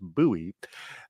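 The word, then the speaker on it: Bouie: No, it looks like you pronounced Bowie but it's pronounced buoy.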